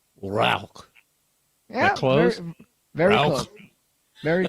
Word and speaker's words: Rauch: okay um so the if you pronounce it correctly in german it's a rock yeah close very close